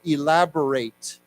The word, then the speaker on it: elaborate: don't we say together elaborate elaborate elaborating elaborating now this is one of those words where if you pronounce it in a slightly different way it has a different meaning if we say elaborate